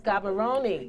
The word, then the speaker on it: Gaborone: I'm not sure how to pronounce it, but I think it's Gaborone. Yes, Gaborone.